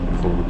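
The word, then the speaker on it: phở: Pho diye okunuyor.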